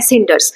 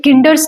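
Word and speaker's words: cinders: एक वर्ड आया है सिंडर्स, तो यहाँ पे हम स यूज कर रहे हैं ना, सी को हम सिंडर्स पढ़ रहे हैं, स से प्रोनाउंस कर रहे हैं, किंडर्स नहीं पढ़ रहे हैं।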